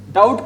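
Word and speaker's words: doubt: लिख रहा हूं डाउट क्या इसको डाउट बोलते हैं डाउट क्यों बोलते हैं यहां से बच्चों बी से पहले टी से पहले क्या आ रहा है अभी बी आ रहा है समझ में आ रही है मेरी बात इसको बोलते हैं डेट डेट क्या होता है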